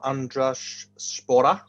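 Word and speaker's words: Andraž Šporar: so i've gone for andres spora which i'm told is the right pronunciation uh he's been on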